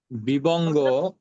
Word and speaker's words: বিভঙ্গ: উইভগ্গা, উই ভাঙা। বিবঙ্গ, বাংলাটা হচ্ছে যে বিবঙ্গ।